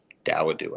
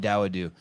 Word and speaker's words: Dawodu: Dawodu, I think is how you say it. Thank you. Hakeem Dawodu.